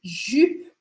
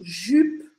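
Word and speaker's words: jupe: inglês e uma saia a gente chama de jup jup jup Olha o meu biquinho jup Eu gostaria que você tivesse anotando aí no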